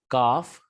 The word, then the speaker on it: calf: becomes wolves okay so for number two word and number five word l is silent the pronunciation will be half halves calf calves wolf wolves here we have